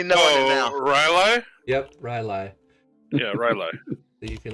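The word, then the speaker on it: R'lyeh: Yep, Rylai.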